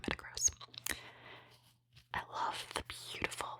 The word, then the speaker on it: Metagross: Is it Metacross or Metagross? Spelled like gross, so I guess it's probably Metagross.